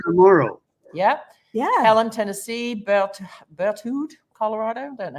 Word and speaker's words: Berthoud: Helen, Tennessee, Berthoud, Colorado. Don't know how to pronounce that. I'm birthed. Berthoud.